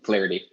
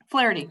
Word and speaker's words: Flaherty: How do you pronounce that? I'm sorry. Yeah, that's pretty good. Flaherty. Flaherty.